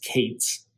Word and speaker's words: k8s: Whereas Kubernetes, where you could have this K8S, sometimes it's pronounced as Kates.